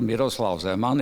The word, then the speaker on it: Miroslav Zeman: Professor Dr. Engineer Miroslav Zeman is a proper Slovak pronunciation, studied electrical engineering at